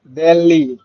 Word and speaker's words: degli: uno zaino এটা হবে del del disegno del zaino sì বলেন তো, উচ্চারণ করেন তো। delli দে জি এল ই, ওকে, GLI sì ব্রাভো।